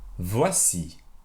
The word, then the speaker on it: voici: say here is or here are in french voici and now this is how you say there